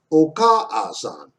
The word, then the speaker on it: お母さん: It's not okasan, it's okasan, okasan, okaasan, okaasan, okaasan.